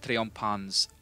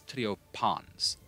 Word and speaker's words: triumphans: P-H, T-H, and C-H. None of them do, like, their weird change it to a completely different sound. So, it's not triumphans, it is triopans.